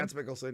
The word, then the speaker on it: Mads Mikkelsen: Yeah, Mads Mikkelsen, yeah.